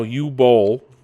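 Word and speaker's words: Boll: the Flop that was Borderlands 3 and now you bowl yes that's how you say his name the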